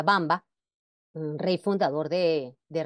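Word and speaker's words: Wamba: antiguo pueblo germánico ejemplo Bamba se escribe allí con la W pero se pronuncia Bamba un rey fundador de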